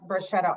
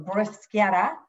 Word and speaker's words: bruschetta: nice little piece of bruschetta on so or bruschetta you'll hear that pronunciation of it different ways so what we've done